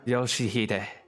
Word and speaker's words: Yoshihide: 아니, 그 글자는 그렇게 읽는 게 아니라 No, that's not how you read those letters. 요시대라고 읽는 거다. Yoshihide. That's how you say it.